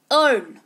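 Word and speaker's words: earn: बोल रहे हैं पर ए आर एन अगर लिखा हो तो क्या पढ़ोगे इसको अर्न ही तो पढ़ोगे ना है ना तो ई साइलेंट हो गया ऑटोमेटिक अर्न का मतलब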